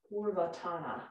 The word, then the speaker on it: Purvottana: Purvottana, there, that's the accent on the right place.